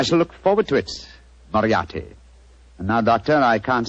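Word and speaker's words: Moriarty: m o r i a r t y mariati mariati I shall remember that name I have a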